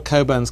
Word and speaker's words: Cockburn: but uh but all coburns carry this Mission through life is your name is spelled cockburn but you pronounce it Coburn um and there are